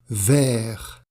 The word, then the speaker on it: vert: rouge rouge vert vert on ne prononce pas le t final jaune jaune au jaune